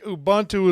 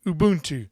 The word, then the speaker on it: Ubuntu: wanting to do is move it over to Ubuntu cuz I think Ubuntu is one of the most stable please Arch